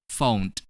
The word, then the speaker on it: phoned: Next, when we add ed to the verb phone, which has the ending sound n, we're going to pronounce ed as d. Phoned, phoned.